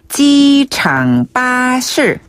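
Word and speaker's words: 机场巴士: 찌 빠실 한번 더 지창 빠실 지창 빠실네 지장은 공항을 말하고요 빠은 버스의 중국식 발음이에요 버스의 중국식으로 빠실네 빠실 빠실네 버스랑 빠실 조금 비슷하죠 그래서 공항 버스는 어디서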